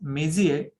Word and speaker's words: Messier: The name of the scientist is Messier, but actually it's spelled as Messier, Messier.